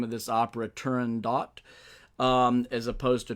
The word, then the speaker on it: Turandot: And what I have to say about that is that I have decided to pronounce the name of this opera Turandot as opposed to Turandot.